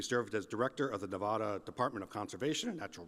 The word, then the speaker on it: Nevada: As I get myself organized here, I'll take the opportunity to, as I always will, to correct the pronunciation of my home state as Nevada and not Nevada.